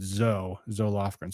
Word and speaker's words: Zoe Lofgren: I usually hear it pronounced Zoe, but I know there's a congresswoman who pronounces it Zoe Lofgren.